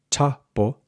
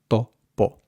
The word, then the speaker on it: topo: So rather than topo, you want topo, topo, with the tip of your tongue against the back of your teeth.